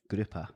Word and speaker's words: Gruppe: Gruppe. So grouper. That's easy. Fish, Yeah. grouper, done.